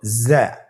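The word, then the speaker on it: ز: উচ্চারণ করার সময় অবশ্যই একালিফ টেনে পড়তে হবে, একালিফ টেনে পড়তে হবে। হরফটি বারিক হরফ, এই জন্যে পাতলা করে উচ্চারণ করতে হবে। যা হরফটির মাখরাজ আপনারা দেখতে পাচ্ছেন, জিহ্বার আগা সামনের নিচের 2 দাঁতের পেট ও আগার সঙ্গে লাগিয়ে উচ্চারিত হয়।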